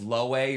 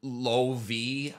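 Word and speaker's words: Loewe: a French brand but the name is German so the W is pronounced as a v so it's I I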